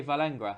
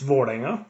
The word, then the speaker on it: Vålerenga: It's in the Oslo dialect. It's Vålerenga, which is in a clean Norwegian way of pronouncing it.